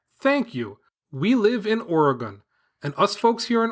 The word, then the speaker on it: Oregon: chime in and let us know how you pronounce it. Is it the incorrect Oregon that I was saying, or the correct Oregon?